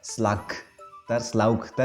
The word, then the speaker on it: slaughter: Jadi ada GH itu bacanya bukan slaughter, jadi pakai F ya.